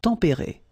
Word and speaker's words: tempérés: Final S not pronounced, but then you should definitely pronounce the accent. Tempéré, okay?